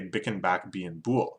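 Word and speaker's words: Bicken Back Bein Bool: If you don't know, Bloods try to prevent themselves from making C sounds, like the hard C sound, because that's associated with Crips. So instead of saying kicking back being cool, you say bicking back being bool.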